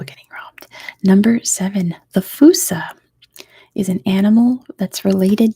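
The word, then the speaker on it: fossa: monkey not a raccoon not a dog the fusa which is a bizarre looking animal it's spelled that way it's spelled f-o-s-s-a it's pronounced fusa hey kitten he is awake the Foos says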